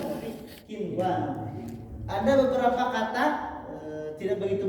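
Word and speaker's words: قنوان: Dunya, bunya bukan buya tapi bunyanun, kinwanun, sinwanun bukan kiwanun tapi kinwanun. Ada beberapa kata tidak begitu banyak. Nah, diistisnakan, dipengecualiankan.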